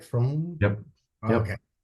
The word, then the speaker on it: Fromm: Fromm? Yep. Yep. Okay. I always pronounced it Froom before, maybe because your sports car is like fast, like room, zoom, zoom, Froom.